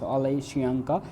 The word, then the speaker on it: Wole Soyinka: Known as Wole Soyinka, is pronounced Wole Soyinka, is a Nigerian playwright.